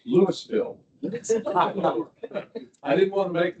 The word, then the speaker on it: Louisville: mother grew up in Kentucky and they always pronounced it Louisville. How do you guys pronounce it in Colorado?" He says, "It's Lewisville." I didn't want to make the mistake of saying Louisville.